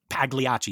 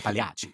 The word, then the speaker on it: Pagliacci: It's like you don't say Pagliacci, you say Pagliacci, right?